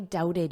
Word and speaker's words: doubted: I'm sorry I doubted you. I'm sorry I doubted. So notice this B is not pronounced, and then this T is pronounced as a soft D. Doubted.